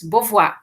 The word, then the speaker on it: Beauvoir: Beauvoir, não é Beauvoir, se escreve Beauvoir, né, gente, mas se diz Beauvoir, tá?